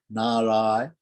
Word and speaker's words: Narayana: So the word Narayana has two ends. The first end is dental, na, Narayana, na. The last syllable is a cerebral na.